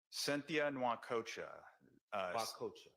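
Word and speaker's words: Cynthia Nwokocha: DA's office could you say her name correctly cythia noac coaa c y n t h i a first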